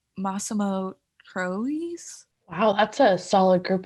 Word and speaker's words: Massimo Troisi: He was nominated against Richard Dreyfuss, Anthony Hopkins, Sean Penn, and I forgot to look up how to pronounce his name, but it's Massimo Troisi.